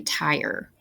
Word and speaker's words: tire: vowel R syllable pattern if the vowel R is followed by an e this can revert back to our vowel consonant e pattern where the vowel will say its name so the IR doesn't say ER in this word it says I followed by the ER so this word will be tire there are times when